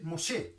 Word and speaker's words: Moshe: En el hebreo se escribe Moshe, Moshe.